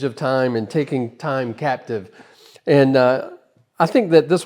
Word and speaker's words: Captive: This watch is called the Captive, or if you want to sound like you're an associate at a Cartier boutique in Paris, you could say Captive, which is the more French pronunciation of the word, but it still means the same thing.